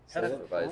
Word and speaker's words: Hefeweizen: Hefeweizen. Hefeweizen. Fuck, there's not an N in the middle? No.